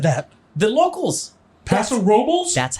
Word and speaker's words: Paso Robles: Paso Robles.